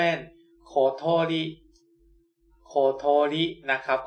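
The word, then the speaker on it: ことり: ไป ขวา 2 ขีด ตัว นี้ ออก เสียง ว่า โคะ นะ ครับ ตัว y อัน นี้ ออก เสียง ว่า โะ นะ ครับ แล้ว ก็ ขีด ซ้าย ขีด ขวา รอม ๆ โอ้ย มือ สั อัน นี้ ออก เสียง ว่า ลิ นะ ครับ รวม กัน แล้ว จะ เป็น โคโทริ โคโทริ นะ ครับ ก็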